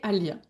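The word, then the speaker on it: Aliyah: Alia, elle est venue me parler avant bien avant aussi que je sois enceinte hein. Et elle me dit "Maman, je m'appelle Alia."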